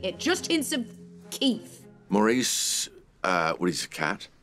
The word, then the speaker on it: Maurice: good job I would I would vote for Maurice well obviously it's Morris obviously it's Morris for